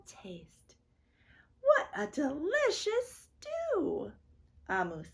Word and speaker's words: Omu: amu and it's pronounced amu it is the igbo word for queen thank you amul by